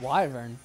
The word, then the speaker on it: wyvern: And why is there a W up in there? Yeah, that's weird. Let's be honest. Let's be honest. Would we have pronounced it that way if there was just a Y? We'd be like Yervin. Yervin, yeah. Wyvern.